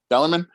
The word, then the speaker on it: Bellarmine: Bellamy that's what I've been saying that's right Bellarmine for the Bellarmine series we're gonna go offensively